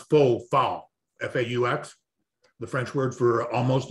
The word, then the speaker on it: faux: yes yes yes and i kept calling it foul faux fur because it's spelled f-a-u-s it looks like should be foul or fox yeah say fox uh yeah